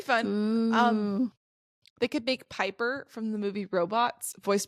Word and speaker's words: Piper: She goes, Piper, my name's Piper, rhymes with Viper.